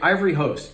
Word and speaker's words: Ivory Host: first impression all right Ivory host I don't think I've ever heard of this one I love that it rhymes with Ivory Coast so uh I guess